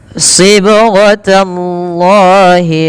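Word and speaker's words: صِبْغَةَ ٱللَّهِ: pada lafal huruf ba yang dia sukun ini perlu dipantulkan dalam melafalkannya. Sibghatallah. Kesalahan yang terjadi, satu, tidak mantul. Yang kedua, tambah hamzah. Maka ini yang sering terjadi kesalahan. Yang pertama yaitu tidak mantul, contohnya sibghatallah, itu yang pertama. Yang kedua, menambah hamzah, contohnya sib, kemudian nafas.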